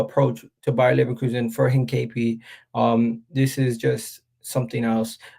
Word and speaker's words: Hincapie: I forget how to pronounce his name again. 1 second. This is gonna bother me all day. Hincapie. Hincapie. So yeah, Hincapie.